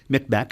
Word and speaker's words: Mi'kmaq: is the plural for Mi'kmaq, shall we say? Okay, yes. Every time you see that Q, you know that you must pronounce it with a guttural sound.